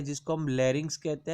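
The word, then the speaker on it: larynx: जब आप लेरिस सुनेंगे एल ए आर वाई एन एक्स इट is pronounce it इ लेरिस सो लंगस आप जब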